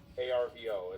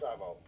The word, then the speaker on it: arvo: ARVO is how they say, "Hey, what are you doing this Arvo?" But they don't really pronounce the R.